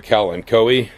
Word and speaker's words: Kalanchoe: And this little thing right here is a Kalanchoe. Some people call it Kalancho. That I don't believe is pronounced in Latin that way, but it'll do.